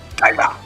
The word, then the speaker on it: Kaiba: Kaiba.